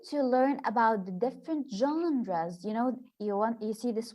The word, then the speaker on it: genre: You know, we are going to learn about the different genres. You know, you see this word. This is called or pronounced genre.